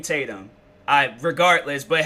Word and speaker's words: Tatum: my remember how um Channing tanum was and uh I feel like I said his name wrong Channing Channing Tatum I regardless but how